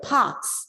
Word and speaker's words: parks: The parks, look at that word, parks. The R is silent because a K follows R.